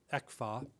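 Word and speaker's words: ECFA: Economic Cooperation framework agreement exa which in Taiwanese has a certain good sound pronounced that way as producing prosperity economic cooperation framework agreement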